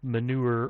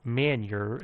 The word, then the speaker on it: manure: gunpowder and it involved manure or man yer as I pronounced a bad thing because I was a kid and didn't know what manure was and yeah I learned